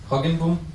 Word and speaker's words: Hoogenboom: I would like to introduce Professor Hoogenboom. I hope I'm pronouncing it correctly. Hoogenboom.